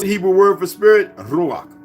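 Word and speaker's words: רוח: ] word what's the Hebrew word for Spirit ruak pronounced ruak is the Hebrew word for Spirit Ru root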